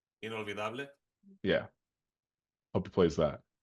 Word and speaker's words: Inolvidable: I don't know how to pronounce the end. Inolvidable. Inolvidable.